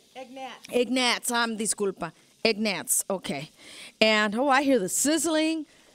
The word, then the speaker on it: Egnatz: Egnatz.